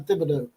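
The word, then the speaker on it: Thibodeaux: That's Ryan Thibodeau. Yeah, Ryan. Actually, I know I tried to correct you on this before, but the H is silent. Unlike Coach Thibodeau, Tom Thibodeau from the NBA.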